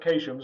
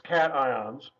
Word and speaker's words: cations: from the positive ions which are called cations not to be pronounced occasions it looks like it to be said patient's it's cations that's there some positive ones